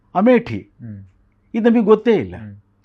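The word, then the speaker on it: अमेठी: ಆ ಪತ್ರಿಕೆಗಳಲ್ಲಿ ಅಂಕಣಗಳಲ್ಲಿ ಬರಹಗಳಲ್ಲಿ ಅಮೆಥಿ ಅನ್ನೋ ಪದ ಬಳಸ್ತೀವಿ ನಾವು ಉತ್ತರಪ್ರದೇಶದ ಒಂದು ಪಾರ್ಲಿಮೆಂಟರಿ ಕ್ಷೇತ್ರ ಅಲ್ಲಿ ಹಿಂದೆ ಸಂಜಯ್ ಗಾಂಧಿ ನಿಲ್ತಾ ಇದ್ರು ಆಮೇಲೆ ಎಲ್ಲಾ ಬೇರೆಯವರು ನಿಲ್ತಾ ಇದ್ರು ಅದರ ಮೂಲ ಉಚ್ಚಾರಣೆ ಏನು ಅಮೇಟಿ ಇದು ನಮಗೆ ಗೊತ್ತೇ ಇಲ್ಲ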